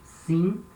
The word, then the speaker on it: sim: Another example, this word here, sim, means yes, sim. Same thing, letter M at the end of a syllable, it has this nasal sound in, sim.